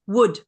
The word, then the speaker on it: would: And that the pronunciation is would. Wood. Again, the L is and the O are ignored.